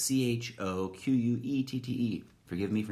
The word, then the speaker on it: Choquette: It almost looks like it should be chocolate, but it's Choquette.